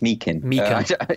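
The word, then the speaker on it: Meechan: By the way, I should say this because everyone's pronouncing it Meechin. It's Meekin.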